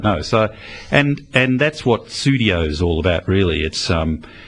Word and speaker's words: Pseudio: Now, one of my other favourite tracks is Pseudio. Oh, yes. Yes. And obviously you can't tell in my voice how it's spelled, but it's Sud, as in P-S-E-U-D, as in Sud's Corner from Private Eye, Pseudio.